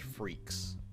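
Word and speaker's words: Freecss: be German anyway also kind of fitting that it's pronounced freaks because that's what he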